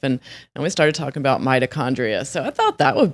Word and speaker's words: mitochondria: Topic today: mitochondria. 5 syllables. Mitochondria.